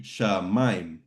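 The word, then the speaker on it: שמים: Yeah, but since you have that accent there, that's telling us that this is what's called a diphthong, which means those vowels sounds go together, and it's in one syllable. So it's actually going to be shamayim.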